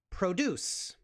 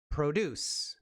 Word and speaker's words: produce: Now, you look at this word and you think, Robert, that is produce. Produce, which means to make something. But here, it's produce. The O is a tad bit longer.